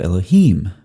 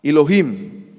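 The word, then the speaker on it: אלהים: But when you add something to the end of a word in Hebrew, Hebrew likes to keep that accent on the end. And so that changes the vocalization, changes the vowels throughout the word in the vast majority of cases. And so El becomes Elohim.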